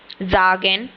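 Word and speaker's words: sagen: ये S sound नहीं देता। यह ज साउंड देता है। जैसे हम इसको ऐसे लिखेंगे ज। ठीक है? तो ये इसकी ये साउंड होती है ज। जैसे मैं आपको एक एग्जांपल में देती हूं। जैसे ये एक जर्मन वर्ब है। जागेन।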